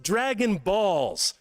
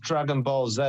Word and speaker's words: Dragon Ball Z: thought it was pronounced Dragon Balls. Now I'm confused. In the UK, it's pronounced Dragon Ball Z.